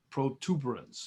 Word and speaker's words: protuberance: I know, not protuberance. Protuberance. I was doing that wrong for about 15 years. Wait, how did you pronounce it? I used to pronounce it protuberance, but it's protuberance. Occipital I know.